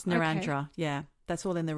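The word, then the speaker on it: Narrandera: So I was like Narendera. It's Narandra.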